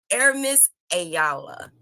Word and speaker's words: Aramis Ayala: guests to the show air miss ayala aaron i said your name correct you did you said it right you said it like